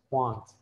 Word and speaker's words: want: Want, it's a very large ah. It's almost ah, but not really an ah. It's ah. It's pronounced in the middle of your mouth, want.